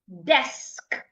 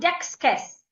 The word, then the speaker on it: desk: So it's not dexus. I hear people say dexess. It's not dexus. It's desk.